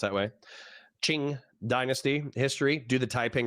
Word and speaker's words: Qing: he said based Shing DynastyQing because Q is pronounced that way.Qing Ching dynasty history do the Taiping rebellion next based